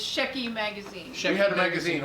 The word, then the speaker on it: Shecky: want to get the names okay so it's shecky magazine we had a magazine online that was